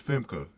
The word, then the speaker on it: Femke: she pronounced her name it is femke it is femkle they've even um the guy that uh the australian guy that does the nbc sports broadcast he always says film kabul from kabul from kabul